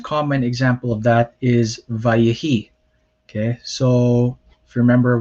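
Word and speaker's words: וַיְהִי: If there was not a dagesh here, or there wasn't an implied dagesh here, you would pronounce this vai-hi, and some people do pronounce it that way, but it should be vayehi. Okay.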